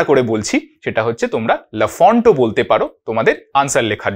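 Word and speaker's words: Lafont: এটার উচ্চারণটা কিন্তু হবে লাফ ঠিক আছে তোমরা নিজেদের মানে এক্সামে লেখার জন্য লাফন্ট বলতে পারো ঠিক আছে বাট একচুয়াল প্রোনাউন্সিয়েশন ইজ লাফ ঠিক আছে এটা প্রবাবলি একটা ফ্রেঞ্চ নেম তো সেইজন্য আর কি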